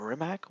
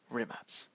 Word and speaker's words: Rimac: be pronounced like nimatz with a z at the end instead of rimac with a k at the end or a c at